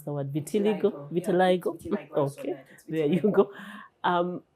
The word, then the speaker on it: vitiligo: with Vital I don't even know how to pronounce the word vitiligo. Vitiliggo.